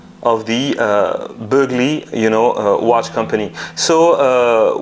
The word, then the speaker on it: Boegli: I forgot everything since then, but I was fluent, and I think that Boegli or is pronounced Burgley.